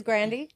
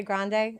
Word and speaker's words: Grande: It is Grande. A lot of people say Grande. It doesn't matter.